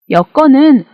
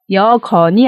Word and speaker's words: 여건: 일을 나열할 때 사용합니다 여건은 주어진 조건을 의미하는데요 여건이 아니라 여건 발음합니다 그래서 정민철 씨는 남자와